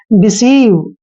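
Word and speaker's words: deceive: मात्रा पढ़ते हैं और सी ई का उच्चारण हमेशा हम स करते हैं तो सी का उच्चारण हम स करेंगे और देखिए ई आई का उच्चारण हम ई की मात्रा करेंगे और वी ई का उच्चारण हमने व करना है डिसीव देखिए दोस्तों डिसीव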